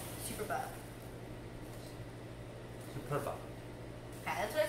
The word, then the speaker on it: superba: It's spelled like super and then B-A. Superba.